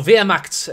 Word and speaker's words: Wehrmacht: south position, versus Wehrmacht, or Wehrmacht, if you want to say it in the correct pronunciation.